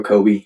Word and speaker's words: Coby: The actual name is Kobe 25. So it's C O B Y. A lot of people spell or pronounce my name wrong is um but anyway